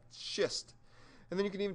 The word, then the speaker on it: schist: into schist all right careful how you pronounce that shist and then you can